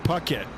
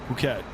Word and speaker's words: Phuket: Leave the H out. So it's Oh, Pucket. Pucket Phuket.